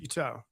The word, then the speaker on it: Buteau: Buteau. Well, you have to emphasize the toe, man. Buteau.